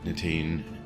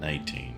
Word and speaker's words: nitain: Yeah, I think everybody's pretty much agreed on that point that nitine it is nitain, not 19, right?